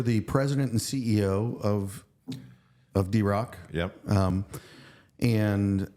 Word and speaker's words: DeRock: DeRock.